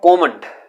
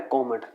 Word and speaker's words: comment: Next है कॉमेंट। इसका जो एक्चुअली प्रोनाउंसिएशन है वो है कॉमेंट। अगर आप इसे कमेंट प्रोनाउंस कर रहे हो तो दैट इज रॉन्ग। ये है कॉमेंट या कॉमेंट।